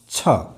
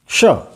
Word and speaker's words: क्ष: इस वर्ण में दो वर्णों का संयोजन है, क क्ष, क क्ष। इसका मतलब इसका उच्चारण होना चाहिए क्ष क्ष। क ध्वनि हल्की सी क ध्वनि आनी चाहिए। सबसे पहले क की ध्वनि हल्की सी आनी चाहिए और इसके बाद में मूर्धन्य श की आवाज आनी चाहिए।